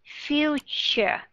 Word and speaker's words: future: Future. Đúng rồi. T-U-R-E ở trong này được phát âm là C-H. Và âm đó là âm schwa sound and R.